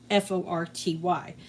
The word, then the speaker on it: forty: She says 40, and that is kind of like my dad with the pronunciation. So she'll say, "How much did it cost?" I say, "Oh, it was $42," and she's go, "Oh, $42," and I'm like, "No, $42." It has an R in there.